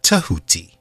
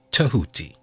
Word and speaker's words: Tehuti: pronounced as jahuti jehuti some people spell it t-e-h-u-t-i and pronounce it tahuti tahuti and this energy being